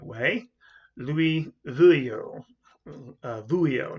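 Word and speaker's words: Veuillot: them um people like and i think i'm pronouncing this name the right way louis vuillo uh vuio not bo but buhio who was this very i mentioned some of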